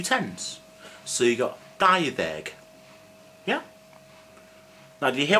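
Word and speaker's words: dau ddeg: I didn't say dau-ddeg because when a previous word ends in a vowel, which is a, e, or, e, u, as you can probably see somewhere, the d in deg turns to the.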